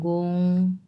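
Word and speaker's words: 公: দুইটাই 1 number ton, গোং সু। আচ্ছা, এই গোং উচ্চারণ করতে গিয়ে কিন্তু মুখটা রাউন্ড শেপ হবে, হ্যাঁ, গোং, মুখটা একটু গোল করতে হবে, তাহলে উচ্চারণটা সুন্দর হয়, এই ওং, ওং টাইপের যত উচ্চারণ আছে।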